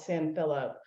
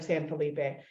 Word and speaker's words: San Felipe: tiny little town called San Philip, or San Felipe. And as Texans always butcher the Spanish pronunciation of all words.